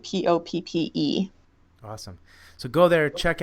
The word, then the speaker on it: Poppe: Again, it sounds like the poppy flower, but it's spelled Poppe.